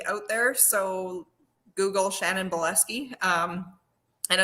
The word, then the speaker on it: Bileski: i'm the only shannon buleski out there so google shannon boleski um and it's spelled bile as in like and ski so like your spot ski bielski yeah um so shan